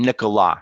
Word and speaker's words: Nicolas: And Nicolas. So you don't actually pronounce the S.